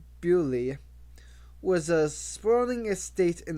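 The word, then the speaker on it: Beaulieu: England's grandest stately homes Buu pronounced buy was a spraing estate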